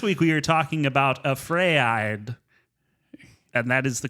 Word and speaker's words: AfrAId: So this week we are talking about AfrAId, and that is the correct pronunciation.